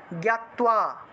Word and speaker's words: জ্ঞাত্বা: 11 নম্বর জ্ঞাত্বা, তো দেখুন আমরা 11 নম্বরে এসেছিলাম। 11 নম্বর জ্ঞাত্বা, এখানে তো এর নিচে বফলা ছিল, সেজন্য তুও উচ্চারণ এসছে, ঠিক আছে।